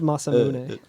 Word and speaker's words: Masamune: It's pronounced Masamune.